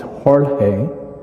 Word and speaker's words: Jorge: my first name and the name is jorge i respond to george it's the spanish word for george and then my last name is and the word fletcha